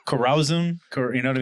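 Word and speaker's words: Corazón: are we drinking uh Sean how do you pronounce this one oh Corazon yeah Corazon uh it's an Anejo tequila aged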